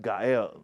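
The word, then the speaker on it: גואל: Now the Hebrew word for this is go out and it it's actually pronounced gael but it is it looks when you write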